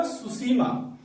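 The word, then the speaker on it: Tsushima: सुसीमा। सुसीमा, आपको सुसीमा सुनने में लग रहा हो कि एस से होता होगा, लेकिन उसमें टी से होता है सुसीमा। इसमें टी साइलेंट रहता है।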